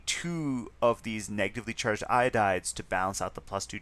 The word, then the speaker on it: iodide: So we take that first syllable syllableish it's iod uh and we add the eyid ending to that so it becomes iodide. Okay?